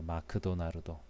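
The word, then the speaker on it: マクドナルド: 기억이 나는데, 아무튼 일본에서는 맥도널드라는 발음이 일본어 발음으로 잘 되지 않아서 마크도나르도라고 합니다. 마크도나르도.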